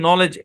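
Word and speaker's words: knowledge: এই বরাবর ভাগ হবে প্রথম অংশের উচ্চারণ হচ্ছে নো আর এই অংশের উচ্চারণ লেজ আমরা পড়ছিলাম মনে আছে ডি এবং জি যদি থাকে তাহলে ডি সাইলেন্ট হয় এই শব্দের উচ্চারণ কি নলেজ এর আগের ক্লাসেও কিন্তু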